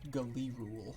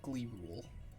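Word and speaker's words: G'lyh'rul: wish um to know his actual name is g apostrophe l y h apostrophe r u l pronounced go lee rule or glee rule can i can i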